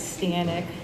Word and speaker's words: Stanek: I don't know what European pronunciation you're using for my name, Pat, but it's Stanek.